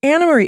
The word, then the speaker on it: Annemarie: an Marie it's pronounced anamarie it's a Dutch name man how long have